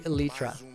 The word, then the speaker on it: elytra: You know that huge debate about how to pronounce... Well, it's elytra. I literally went and looked it up. So, I feel like Minecraft community is split down the middle. I don't know why, but it's literally elytra.